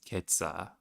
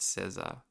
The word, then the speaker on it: Cesar: This voice is pronouncing my name as Ketza and not Cesar.